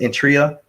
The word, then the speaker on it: Eritrea: How do you pronounce it? Eritrea, next to Ethiopia.